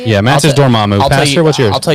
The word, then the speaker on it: Dormammu: Yours is Dormammu. Is that how you say it? Yeah, Master Dormammu.